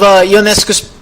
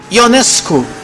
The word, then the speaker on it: Ionescu: I mean, there's always this thing with Ionescu's name pronunciation because it is Ionescu, but sometimes people say Ionescu, but to me it is really hard to say Ionescu.